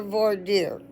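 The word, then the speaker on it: voir dire: better right okay so I'll quickly read their V deer um so they got V deer the first one and it's spelled uh it's spelled it's spelled v o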